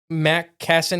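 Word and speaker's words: McKesson: Uh, but Matt Kassen is how you say that one because there's Cardinal Health, Met Cassid, and Ammerisher.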